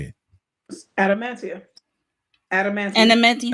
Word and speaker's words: adamantium: is it called how do you say it adamantium adaman Adan adamantium right and we meet Sidewinder yeah yeah yeah